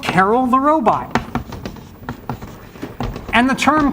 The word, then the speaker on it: Karel: in the room but closer to the actual pronunciation but we say Carol these days because it's kind of like gender neutral okay and so Carol